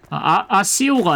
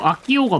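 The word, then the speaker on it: Accio: 아시오가 아니고 아키오가 맞아요. 발음하는 거 보면.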